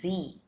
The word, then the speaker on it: Sie: We pronounce it as Z.